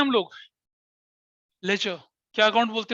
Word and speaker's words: ledger: लेजर account. इसमें क्या होता है? LEDGER, लेजर अकाउंट्स बोलते हैं, लेजर अकाउंट्स, लेजर अकाउंट्स बोलते हैं, पढ़ेंगे इसको हम आराम से, जिसमें से डी साइलेंट होता है, लेजर अकाउंट बोलते हैं।